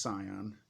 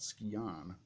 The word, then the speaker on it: Scion: that's how you pronounce it the other ones pronounce Sion I used to think that was called ski I'm sorry I didn't know the sigil was